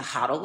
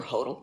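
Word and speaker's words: hodl: those early years and to hudle or hotal depending upon how you say it um we should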